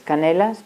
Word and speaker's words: Canellas: Jordi Canellas se escribe, es Canelas, pero es un catalán.